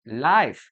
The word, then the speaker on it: live: Estamos hablando de la otra pronunciación, live.